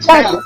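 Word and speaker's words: Tatl: I thought you were saying tattle, like tattletale. Like tittle. Yeah, that's what I thought too. That is kind of how I would pronounce it. T-A-T-L. Tattle. Mm-hmm. That is right.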